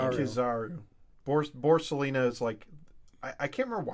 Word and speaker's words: Kizaru: I just remember it's Aokiji and Kizaru.